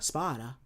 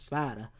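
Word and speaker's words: Sparda: Right now, when you go into his actual name of Sparta, Spider, that's how you pronounce it. His act how you actually pronounce it. Spider, he's actually a legendary magical swordsman.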